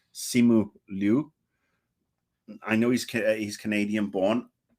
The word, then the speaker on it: Simu Liu: Not necessary, and I think his name is pronounced Simu Liu.